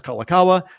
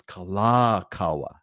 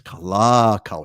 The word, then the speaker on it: Kalakaua: Everyone says Kalakaua, or everyone says Waikiki. Well, technically speaking, that's not correct. It's Kalakaua, right? It's Kalakaua. It's not Kalakaua.